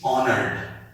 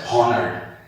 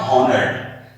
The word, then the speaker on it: honored: Here it is highly, and here it is honored. This word is pronounced as honored, and I am sure some of you may be pronouncing this word as honored. It is not honored, it is honored.